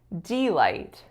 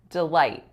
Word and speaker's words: delight: was when I said delight delight in this word we actually should stress the second syllable delight delight so this section should